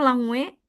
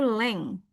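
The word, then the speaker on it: langue: lagi bukan language ya di situ tulisannya langwe tapi bacanya itu leng ya ee ini oh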